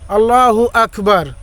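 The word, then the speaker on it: الله أكبر: আল্লাহু আকবার তা বলি, এখানে গয়নের উচ্চারণ বা গয়ের উচ্চারণ করি, আর এখানে গয়ন বা গয়ের উচ্চারণ নাই। এখানে আছে কাফের উচ্চারণ, এখানে হবে ক। আল্লাহু আকবার।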